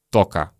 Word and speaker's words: только: Чаще всего в беглой речи мы произносим как «тока», «тока», «тока», «тока», «тока».